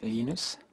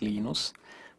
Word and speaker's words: Linus: your preferred pronunciation um when I speak Swedish it's enus when I speak Finnish it's lenus when I speak English it's lonus and I really don't care how people pronounce my name but Linux is